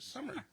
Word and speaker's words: Sommer: It's spelled that way, but you pronounce it Sommer.